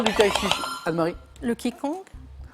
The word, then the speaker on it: Qigong: Le Qigong. Alors, on dit Qigong, mais je vous donne bien sûr les Qigong. points. Mais ça s'écrit Qigong. QI et plus loin G-O-N-G, et Qigong, Anne-Marie est déjà à 7 points.